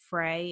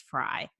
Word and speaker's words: Frey: And I think we actually said Frey in the episode, but it's Fry. It's just spelled like Frey.